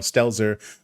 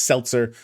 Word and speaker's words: Stelzer: And I'd like to offer my heartfelt apologies to Daniel Stelzer for last month pronouncing his final family name as Seltzer.